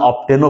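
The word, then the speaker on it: often: question রয়েছে Rabindranath stories অফেন dash surprise Indies ও তাহলে অফেন শব্দ রয়েছে এটাকে আমেরিকান প্রোনাউন্সিয়েশন অফটেনও বলে কোনো সমস্যা নেই তুমি জাস্ট বুঝলে হয়েছে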